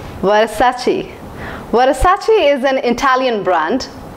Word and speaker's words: Versace: it's Mufti here's the next brand it is pronounced as Versace Versace Versace is an Italian brand long back in